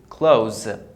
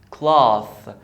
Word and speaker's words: cloth: The final sound that I have is Z, as in zoo, clothes. Okay, this one here is cloth, cloth. The TH is pronounced as voiceless TH, which is as in thank.